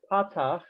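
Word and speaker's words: פתח: The other one, the horizontal line underneath is called a patach, accented on the pa, patach, and that is also ah.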